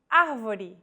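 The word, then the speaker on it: avó: with the acute accent vowels with the acute accent will be stressed and pronounced with open pronunciation avo this word means grandmother if said with a closed vowel it would mean grandfather and with no accent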